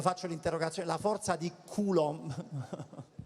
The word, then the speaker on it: Coulomb: Mi raccomando, non sbagliare l'accento. Occhio all'accento Coulomb. Che quando a chi lo stai dicendo? Alla professoressa, no, perché molte spesso mi dicono la forza di Coulomb.